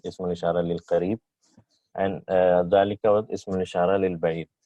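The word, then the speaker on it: ذلك: So hadha and zalika is pronounced as hadha and zalika, but alif is not written.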